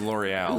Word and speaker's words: L'Oréal: Yeah, but it's French, so that's why I say it like in French, but it's L'Oréal. It's pronounced L'Oréal.